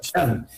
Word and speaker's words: Sean: El nombre es como Sean Connor, como el de James Bond, como era Sean Connery. Sí. O sea, Sean.